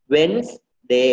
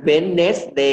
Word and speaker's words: Wednesday: ดั บ ที่ 2 1 Sunday Monday Tuesday Wednesday น ะ ค รั บ เ ร า ไ ม่ อ่ า น Wednesday น ะ ค รั บ ไ ม่ อ่